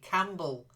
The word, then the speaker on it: Campbell: the beginning and then a silent P Campbell okay I I it's a